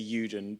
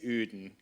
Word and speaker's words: Uden: Most people in the UK say Uden, but apparently in Holland they say Uden. Uden.